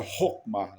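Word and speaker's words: Chokmah: Então, eh, e o Cristo é representado como Hokmá ou Shokmá, né, escrito com ch, mas em hebraico se, quando se translitera se pronuncia Hokma, né?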